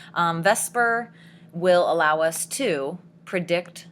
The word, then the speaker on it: VSEPR: And the good is vesper as it is pronounced. Um, vesper will allow us to predict the shape.